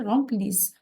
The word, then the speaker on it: remplissent: Okay, remplissent. No Z sound is S. Those S gives us S sound, okay?